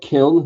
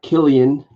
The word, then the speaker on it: Kiln: It's called Kiln, not Killian. Dirt. I don't know why you can't pronounce Kiln. It's a pretty easy word.